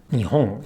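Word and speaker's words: 日本: For example, while the downstep for Japan, nihon, is on the ho as in nihon or nihon ni, when no attaches to the end of it, we can pronounce it as nihon no nihon or nihon ni. When no attaches to the end of it, we can pronounce it as nihon no, as if it were a heibang word.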